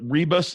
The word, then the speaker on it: Rebus: Would they start like at is it Rebus? Is that the right way to pronounce it? Yeah, Rebus University.